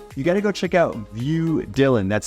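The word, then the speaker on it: Vue: along with it you gotta go check out view Dylan that's spelled v-u-e Dylan and out to number five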